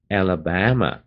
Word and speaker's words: Alabama: 州的名字念的时候前面的 A 也很重， Ala 这第二个 La 不太重， Bama 那个 Ba, 最重要的